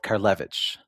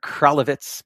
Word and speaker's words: Karlevich: So by Zayda Lipa was born in a town called Karlevich, or Kralevitz, but Karlevich was like the Yiddish way to pronounce it, which is kind of